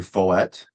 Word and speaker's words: Follett: Here for our second interview, we have Andrew Follett. Am I pronouncing that correctly? Yes, you are. Rhymes with wallet.